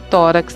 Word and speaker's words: tórax: lápis é na penúltima tórax na penúltima o álbum também na